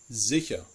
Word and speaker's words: sicher: The most complicated is actually the letter S. It is pronounced like a voiced sibilant, the Z sound, if it is followed by a vowel.